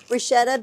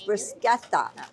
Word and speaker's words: bruschetta: Brusqueta. I keep saying bruschetta. It's brisqueta. Right. So, I know I'm saying it wrong. Just correct me audience when I say it wrong. It's brisqueta. That is the correct way of saying it.